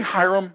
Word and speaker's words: Hyrum: out with a Hyrum can we say Hyrum with a long I Hyrum okay Iram okay